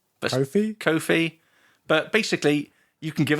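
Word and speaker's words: Ko-fi: And we're going to plug the, how do you say it, Coffee or Kofi? Kofi? Kofi.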